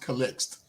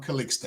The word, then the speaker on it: Calixte: Actually, it's pronounced Calixte. But Calixte. because we're in the United States, they call me Calixte.